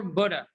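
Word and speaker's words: butter: So okay, leather, leather, boot or Buddha, Buddha, Buddha. Yeah, excellent. T here is between two vowels like that.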